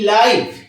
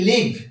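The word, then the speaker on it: live: এল আই ভি ই লিভ লিভ মানে বাস করা এক্ষেত্রে উচ্চারণটা একটু তফাত থাকছে বানান একই থাকছে উচ্চারণ একটু তফাত হচ্ছে একটা লাইভ বলা হচ্ছে আরেকটা লিভ বলা হচ্ছে ফাস্ট এফ এস টি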